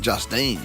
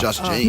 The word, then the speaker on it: Just Jeans: Because you said, I'm I going thought Morgan was saying Justine, not Just Jeans. No, just jeans.